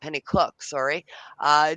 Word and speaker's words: Pennycook: Pennycook, pronounced Pennycook, did 3 combat tours as an Army helicopter pilot.